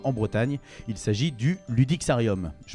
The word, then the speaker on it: Ludixarium: Il s'agit du Ludixarium. Je prononce bien ?